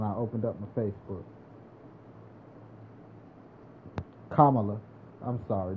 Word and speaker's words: Kamala: that trickers me but yeah that was politics Camila Harris versus what's his face that was the first thing I've seen when I opened up my Facebook Kamala I'm sorry not Camila see what I'm saying